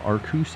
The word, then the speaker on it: Arceus: through the stream tonight the only correct pronunciation I only say aruse because uh I get harassed whether I say any other pronunciation it feels like arus is the only one that doesn't get me just slammed in chat so yeah it is